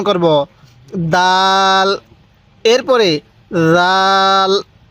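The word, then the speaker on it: ذ: উচ্চারণ করব দাল এরপরে জাল জাল এই জালটা নরম করে উচ্চারণ করব অবশ্যই জালটা আমরা নরম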